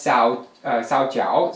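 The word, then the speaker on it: 皂角: Jogak is the same thing as Sao Jiao. Sao Jiao is the Chinese pronunciation, and Jogak is the Korean.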